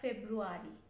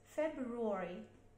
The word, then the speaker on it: February: F-E, Feb, B, Feb, February, Feb, R, W, rule, r, e, re, February, February, February, February, February, February, February, not February, it's February.